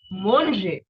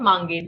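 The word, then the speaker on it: manger: red next we have monje not mange no that pronunciation is for English but in French we have to eat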